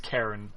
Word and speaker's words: Charon: So Charon. Yeah. Yeah. Karen. Isn't that the ferryman? Yeah, Karen. Karen. Apparently, it's pronounced Karen. I know it's weird.